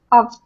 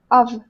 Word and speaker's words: of: opposite of "on" like "off" then I should pronounce it with "f" but if it's like "of" then then "ov." Ov.